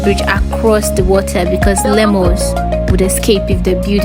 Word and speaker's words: lemur: I'm saying lemur. It's lemur, okay? So when you go outside, say lemur.